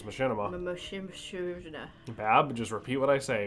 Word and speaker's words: Machinima: I'm telling you how to pronounce it. It's Machinima.